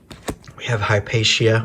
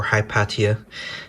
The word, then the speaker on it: Hypatia: ethics in for two craft and two science hypatia or hypatia depending on your pronunciation allows you to trade one science in